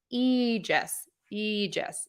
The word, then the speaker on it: Aegis: that is associated with Zeus and Athena so e just Aegis foreign no that's not a mistake we can